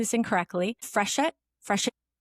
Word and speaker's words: Freshet: She is a veteran journalist, uh, co-founder, editor, and reporter at a new publication called, and correct me if I'm pronouncing this incorrectly, Freshet.